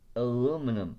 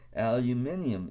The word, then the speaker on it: aluminium: me on it is aluminum it should be pronounced aluminium if you look at it and it was spelled